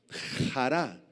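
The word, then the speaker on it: χαρά: La palabra gozo es la palabra griega jará. Se escribe charará con acento en la jará.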